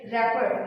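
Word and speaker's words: wrapper: and you can say rapper. Yeah, the rapper. Before R in the any word starting of the word W is silent.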